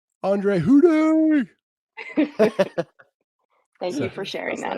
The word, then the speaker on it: Houdet: Houdet! No? Really? Yeah. That's what. Yeah. That's cool. And it's a play on words of who are they? Houdet.